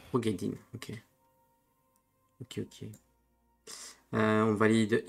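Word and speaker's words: Roegadyn: Ça se prononce comment ? Les Rogedine. Rogedine, ok.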